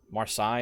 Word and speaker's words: Marseille: Marseille is the actual way to pronounce it.